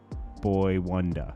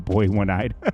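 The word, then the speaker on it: Boi-1da: Boy, I always say his name wrong and people... Boy Wonder, okay? I used to call him Boy One-Eyed.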